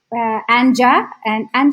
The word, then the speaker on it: Anja: Anja. Do you pronounce Anja also? And the Anya. German Anya.